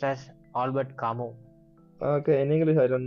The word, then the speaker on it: Albert Camus: He's actually, it has to be pronounced as Albert Camus. Okay, in English I don't know, but as French speakers, so we say Albert Camus.